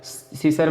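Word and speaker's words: scissors: सीसर में भी देखिए, सीसर मतलब कैसी होता है, तो यस साइलेंट रहेगा, सॉरी सी साइलेंट रहेगा, क्योंकि यस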